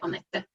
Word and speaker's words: Annette: So my name is Annette, or as a Finnish person, I would say Annette, but you pronounce it as you wish.